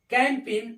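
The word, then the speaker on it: campaign: जैसे दिया हुआ है सी ए एम पी ए आई जी एन कैंपिन इसको क्या पढ़ते हैं कैंपिन पढ़ते हैं जी यहां भी क्या है साइलेंट है क्योंकि एन के पहले आया है सीओ ए एस आईजी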